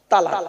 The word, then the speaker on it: তালাক: একটা শব্দ বলে কি শব্দ বলেন তো বাবা তালাক বলে না বলুন আরে বউ যাবে না ভয় নেই আমি আছি এখানে চিন্তা নেই বউ এনে দেবো আবার কি বলেন তালাক তাইতো খবরদার ওটা বলবে না তালাক নয় শব্দটা শব্দটা তালাক নয় বাবা শব্দটা কি